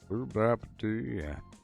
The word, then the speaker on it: Gooboberti: Gooboberti. Gooboberti. Gooboberti. That's how you say it. You have to make your face kind of weird when you say it. Start by making the face, and then say the word.